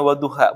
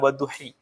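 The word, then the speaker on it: وَالضُّحَىٰ: Kenapa dibacanya wadduha bukan wadduhi? Karena ada alif layinah di sini.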